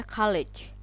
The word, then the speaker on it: kolej: tinggi atau setingkat ST itu dibacanya khaleej Halo Andi yard itu man dibaca dibacanya kalejs tapi ditulisnya kolej Hi Ho di Malaysia